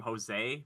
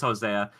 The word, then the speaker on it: Hosea: they were calling him Jose because I feel like a lot of people don't pronounce the A on that, but it is Hosea.